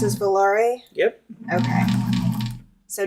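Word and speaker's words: Volare: Is that how it's pronounced as Valare?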